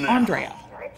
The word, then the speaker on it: AndrAIa: like assembling that i've been pronouncing it wrong the whole time it's andrea andre andrea i'm going to try